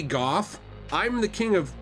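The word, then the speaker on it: Gough: now here's the thing I think his name is pronounced go you know like Vincent Van go could be Goff I'm the king of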